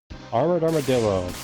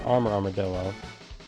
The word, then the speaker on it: Armored Armadillo: Alright, and from here, we're going over Armored Armadillo, or as it's mispronounced sometimes, Armor Armadillo.